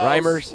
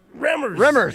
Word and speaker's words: Remmers: Reimers. Mike. Remmers.